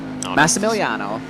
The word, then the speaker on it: Massimiliano: first tribe massimilio ribolli massimiliano massimilian proceed to pronounce his worst name progressively worse with every attempt oh no that's how it's pronounced like maximilian but not the german way it's the alienwave maximum